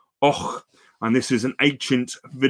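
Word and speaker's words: Avoch: If you looked at the map, it's spelled A-V-O-C-H. You can see it on the slide there, but it's pronounced Och.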